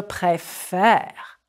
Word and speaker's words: préfère: Je préfère. It's the accent change that opens up the second E.